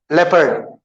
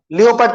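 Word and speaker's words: leopard: Okay, चलिए next word, I give it टू यू, लेपर्ड। लियोपर्ड तो कोई भी नहीं बोलता ना भाई, इससे पहले पढ़े थे अपन, अ लेपर्ड कैन not change it's spots.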